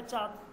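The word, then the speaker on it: چاند: এখানে নুনটার কিন্তু উচ্চারণ হবে না। নাকে গুন্না করবো কিন্তু উচ্চারণ হবে না। চাঁদ। চাঁদ। হালকা নাকের মধ্যে আসবে। নুনটা। কিন্তু পরিপূর্ণ উচ্চারণ হবে না।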